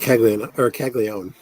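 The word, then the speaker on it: Caglianone: Okay, you can tell me, is it Caglione or Caglione? I pronounce it Caglione, but it's Okay, just so do I.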